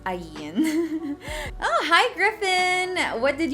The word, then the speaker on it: Ayn: Laging Ayn, laging Ayn. Guys, it's Ayn.